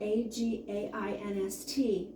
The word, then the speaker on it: against: rules so we actually have our words spelled a-g-a-i-n-s-t but it's pronounced uh against and that's what makes this